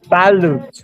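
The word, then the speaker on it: balut: How do you say man? Malut or manut? Malut. Man, b a n u t. Oh, balloot.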